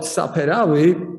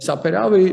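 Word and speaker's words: Saperavi: correctly so uh about sapphirawi uh first of all pronunciation always uh in georgian words this uh syllable falls on the first half uh and saperaway means to color or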